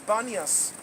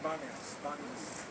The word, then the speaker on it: Banias: Arabs cannot go with P, so what comes out from their mouth is B. So it's known as Banias. Paneas became Banias.